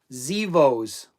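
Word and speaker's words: Xevoz: X E V O Z. Google it. Zeos. Like the X is silent.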